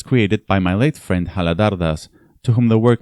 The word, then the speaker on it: Haladhar: Another friend explained to me that the last vowel should not be pronounced. Haladar never corrected me, but